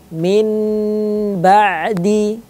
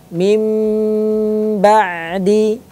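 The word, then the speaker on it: مِنْ بَعْدِ: Tidak boleh dibaca min ba'di atau kalla la yunbadhanna fil hutamah. Ini bacaan yang kurang tepat pada hukum iqlab. Bagaimana cara membacanya? Dirubah menjadi suara mim.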